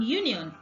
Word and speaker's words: union: The sound of letter U in union is not A, it is Y, which is a consonant.